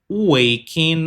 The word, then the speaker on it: waking: Para dizer isso, eu vou de I always brush my teeth after waking up. Waking up. Eu não pronuncio o G.